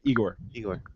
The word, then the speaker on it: Igor: and namely folks like Igor. yeah, that guy's cool. Yeah, Igor, amazing individual. Freaking a genius. That guy's he's a genius. very incredible person. Is it Igor or Igor? Igor. Igor. One of the classic things